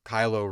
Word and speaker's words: Kylo: name to be kylo because kylo rhymes with solo I don't want to